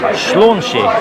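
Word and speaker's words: Sláinte: So in the meantime, I think as they pronounce it, cheers here, not Prost or Yechedal as we say in Wales, it's Slánsi.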